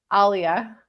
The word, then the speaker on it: Aliyah: How do you pronounce it? Aliyah. Yeah, that's what I say.